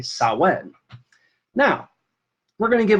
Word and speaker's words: Samhain: that it was pronounced Samhain but the Irish Celtic language is anything but straightforward and how it's pronounced so it's actually saw when now we're going to